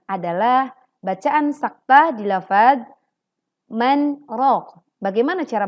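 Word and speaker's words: مَنْ رَاقٍ: Selanjutnya adalah bacaan saktah di lafadz man raq. Bagaimana cara bacanya? Wa qila man raq. Perhatikan teman-teman, saat membaca wa qila man raq ada kesalahan, yaitu menghilangkan atau melupakan sifat tawassut atau bainiyah pada huruf nun.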